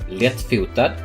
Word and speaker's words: lättfotad: That is lättfotad in Swedish. And it would be pronounced something like this. The first part, le, is like the first part of lemon.